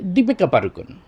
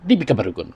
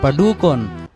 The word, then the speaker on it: দীপিকা পাডুকোন: আরেকটা আছে দীপিকা পাড়ুকোন, আমরা বলে ফেলাই সহজে দীপিকা পাড়ুকোন, কোনো টান টুন নাই, কোনো ইয়ে নাই, আবার সঠিক উচ্চারণটা নাই। এটা মূলত উচ্চারণ হবে দীপিকা পাডুকোন। দীপিকা পাডুকোন। এখানে আমরা লক্ষ্য করলাম কি, পাড়ুকোন হবে না, পাডুকোন। ডয় রস্যকারে এখানেও টান হবে একালিপ সম পরিমাণ, পাডুকোন।